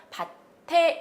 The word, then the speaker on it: 밭에: 막아 일어난 조건이 아니지요 그러니까 바체 이런쪽으로 발음 하시면 안되구요 밭에 이렇게 발음 마시는 것이 낫습니다 자 그 다음에 비녀를